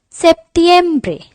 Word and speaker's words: septiembre: to after August we have September it is pronounced as septiembre after September we have October which is pronounced